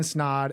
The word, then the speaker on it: Snaadt: I'm in studio with Ryan Snod, and it rhymes with odd.